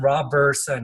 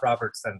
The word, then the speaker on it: Roberson: And Roberson, not Robertson.